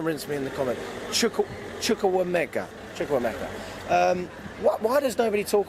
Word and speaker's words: Chukwuemeka: Chukwuemeka. Oh, I pronounced it wrong. Please don't rinse me in the comment. Chukwuemeka.